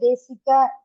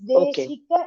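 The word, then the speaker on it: देशिक: The first quarter, when you say Sha, please take care that it is not pronouncing like Sa. Okay. Desika, I heard as Desika Sanke. It's Deshika iti kim Shanke. It is Shankara Sha.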